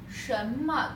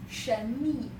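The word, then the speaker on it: 什么: 什么 don't pronounce that 神秘.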